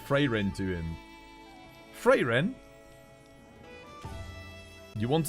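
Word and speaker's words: Frieren: It's like Fräulein, but Freyren. It's because they invert it in Germany. In English, free is the I before E.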